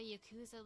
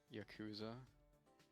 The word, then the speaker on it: Yakuza: Yakuza. Is that not what I said? What? How do you say it? Just I don't know why you put so much emphasis on the coup.